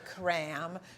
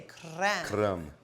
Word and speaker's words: kräm: good it's called and mom wouldn't call it cram she'd say cran okay so you gotta roll your eye there you go and